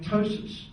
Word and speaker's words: ptosis: And I can remember him saying, like ptosis, P-T-O-S-I-S. And he said, and the P is silent, as in sea bathing.